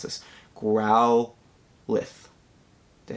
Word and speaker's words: Growlithe: how to pronounce this growl lift did i say that right growlithe i believe the e is silent that's what somebody told me i could never get this one right growlithe oh my god i